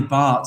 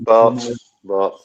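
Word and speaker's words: Batth: Our commentators say Danny Bart. Yeah, I've heard that pronunciation as well. Bart. As in Bart Simpson.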